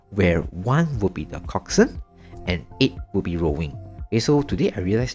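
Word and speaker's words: coxswain: So they need to form a crew where one will be the coxin and eight will be rowing. Okay. So today I realized that this uh word is pronounced coxman.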